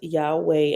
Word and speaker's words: Yahweh: touch of Grandma saying Yahweh Yahweh here is pronounced Yahweh and serves as one convenient word to signify